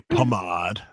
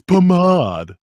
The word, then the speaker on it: pomade: If you want to say it like a jerk, you say pomade. Yeah. It's pomade.